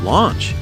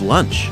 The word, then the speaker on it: Launch: some reason I always thought her name was launched in the manga it's lunch I don't know everywhere I look on Google its launch but these comics say it's lunch the wiki has Japanese pronunciation of Ramji which really could go either way I still like to